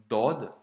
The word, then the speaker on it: ض: vu ensemble à l'être dodd qui je te le rappelle se prononce avec emphase donc c'est une grosse lettre comme la lettre soldes ou la lettre tort par exemple à ne